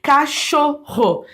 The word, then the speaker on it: cachorro: formando um som só pensa na palavra Cachorro Eu Tenho dois dígrafos aqui ó o cho cacho que é o som de um som é unf né mas só que é o x e o Ro que apesar de ser dois RS tem som de uma R só você não fala ro cachorro Então eu tenho dois